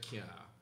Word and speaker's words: cyaa: So I do that as well, where, because, you know, in Jamaica we don't say can't, we say can't.